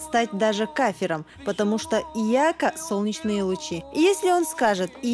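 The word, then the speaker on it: إِيَّاكَ: то есть две буквы я тогда верно будет ияка а не ияка если осознанно читать ияка Человек может стать даже кафе потому что ияка Солнечные лучи если он скажет то получится мы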